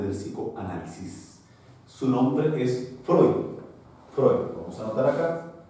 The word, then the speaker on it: Freud: Su nombre es Freud. Freud, vamos a anotar acá, Freud, se escribe Freud, ¿ya?